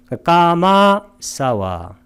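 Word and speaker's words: kāmāsava: 연결해서 소리 낼 때 아가 겹칠 때는 장음으로 발음합니다. 까마사와 감각적 욕망에 대한 번뇌.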